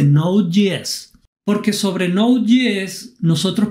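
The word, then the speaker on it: Node.js: se llama node GS y la J se pronuncia GS la gente dice así la gente no dice no de js dice no Yes porque sobre no Yes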